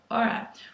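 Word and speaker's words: Erra: very more populated with the es is called Aura which is e a r r a so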